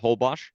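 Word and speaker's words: Holbox: it's spelled h o l b Ox it's pronounced hbos and there is a there's a whole box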